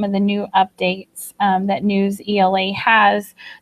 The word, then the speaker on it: Newsela: Some people pronounce it NewsELA, but it just makes sense for me to call it NewsELA.